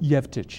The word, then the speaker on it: Jevtić: Sevtić, is that how you pronounce his name? Jevtić, yes.